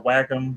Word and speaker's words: Wacom: There, well, it depends on how you want to pronounce it. Wacom or Wacom, whatever. Yeah.